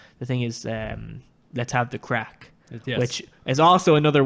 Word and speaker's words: craic: It's crack as in fun. Crack is fun. It's a different word. It's like it's spelled like craic or something like CRAIC.